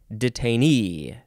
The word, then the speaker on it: detainee: detainee is that detainee detainee the last syllable is emphasized noun from Circa 1928